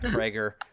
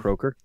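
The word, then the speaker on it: Kroeger: His name is Chad Krager. Is it Croker? His last name is weird to pronounce.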